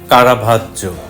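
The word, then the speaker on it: Caravaggio: অনেকে ভুল করে উনার নামটা বলে কারাভাজ্জিও। তাহলে একটু নিয়মটা আমরা জানার চেষ্টা করি। GIO হলে উচ্চারণটা জো, সে কারণে নামটা কারাভাজ্জো।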